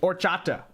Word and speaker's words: horchata: Don't pronounce the H really. Okay, horchata.